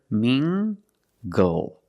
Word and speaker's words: mingle: Using the nasal sound and the hard g. Together, mingle. Mingle.